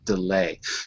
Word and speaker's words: delay: that's what I thought so repeat after me delay delay delay right so we have to move the stress on the second syllable delay so Susan asks for